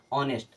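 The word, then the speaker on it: honest: नेस्ट नहीं पढ़ते हैं इसे क्या पढ़ते हैं ऑनेस्ट क्या पढ़ते हैं ऑनेस्ट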